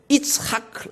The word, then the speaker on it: 이츠하크: 라빈 총리의 이름이 이츠하크 라빈입니다. 이츠하크라는 것은 이삭의 히브리어 발음입니다.